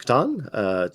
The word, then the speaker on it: Catan: It rhymes with Atan, so the reason for this was my gaming group, whenever we couldn't meet, would play Settlers of Catan to actually meet in person.